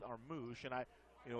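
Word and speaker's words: Armus: didn't feel him anyway he spells his name a-r-m-u-s and it's pronounced our moosh and i you know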